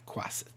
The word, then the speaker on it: quasit: Quasit. Okay. And by the way, if you're looking for a cool variant familiar, that's the one you want. Because, no, I want a crow. Guess what your Quasit could do?